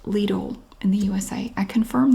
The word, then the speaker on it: Lidl: good canned vegetables and yes it's pronounced Lidl in the USA I confirmed that with the company it's pronounced Lidl isn't it she's back